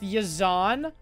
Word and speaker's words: YZNSA: sick it's pronounced yazan okay but the a is at the end how does that how is that pronounced as yazan if the a is